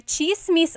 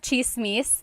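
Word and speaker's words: tsismis: on Instagram talking about chismis. One thing, in Tagalog, it's spelled with a TS. The TS combination makes that cha sound.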